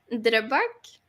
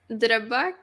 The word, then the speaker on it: Drøbak: Drøbak. Say that again. Drøbak.